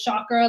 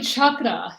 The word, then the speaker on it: chakra: sure that's where it came from um we pronounced chalk and when somebody says chakra like like chalk and like all that stuff so but it's really chakra and it really does have a meaning to